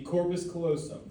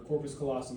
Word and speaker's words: corpus callosum: Now we have the fornix, the corpus callosum, or corpus callosum, you can pronounce it either way, okay?